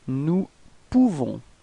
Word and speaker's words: nous pouvons: Nous pouvons. Okay, so you write this OU and you pronounce it OU. Okay, so if you combine it, you nous pouvons. Okay, you don't pronounce the final S.